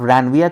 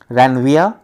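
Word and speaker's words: Ranvier: इस गैप को ही कह रहे हैं क्या, नोड ऑफ रैनविया कह रहे हैं। रैनविया, आर नहीं प्रोनाउंसिएट करना है, रैनविया कहेंगे इसको हम लोग, जो क्या करता है, अलाउ करता है क्या, डिफ्यूजन्स को।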